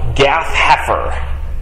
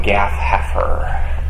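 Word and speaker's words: Gath-hepher: due east of Nazareth a little town called gath heer Deep biblical trivia stuff which prophet was from Gaff haer can you spell that g a t h h e p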